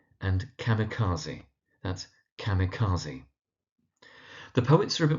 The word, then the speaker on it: kamikaze: You do sometimes find people struggling to pronounce the emigre, that's the emigre, and kamikaze, that's kamikaze.